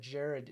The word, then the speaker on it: Gerard: The thing is that Jared is pronounced Gerard, or it's spelled Gerard, pronounced Jared.